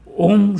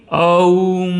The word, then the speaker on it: ओम: उ और म है इसका उच्चारण कभी भी ऊम नहीं हो सकता यह गलत उच्चारण है उसका उच्चारण करना है तो हमारे को ओम बोलना पड़ेगा किंतु हमने माना कि